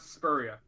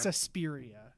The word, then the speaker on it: Suspiria: We got Speria.